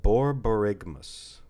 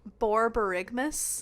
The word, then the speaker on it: borborygmus: It's pronounced borborygmus. Borborygmus? Yes. Mus or miss? Mus. Borborygmus. Borborygmus.